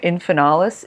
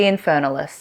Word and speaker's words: infernalis: this hey alocasia infernalis I think I was pronouncing it infernales in the video but you know what Choose Your Own Adventure with these pronunciations mine will be infernalis alloca infernalis and then we